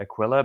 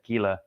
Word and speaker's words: Aquila: roman history and so aquila it's a latin word and he pronounces it akilah but then there's been